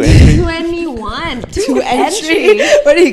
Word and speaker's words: 2NE1: 2NE1. That's how it's spelled, entry. but it's pronounced 21.